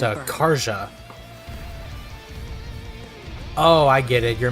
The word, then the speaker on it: Karja: Her will name just is make pronounced everyone burn. Karja.